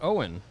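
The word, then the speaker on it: Owyn: No, this Owen is spelled O-W-Y-N, and it stands for only what you need.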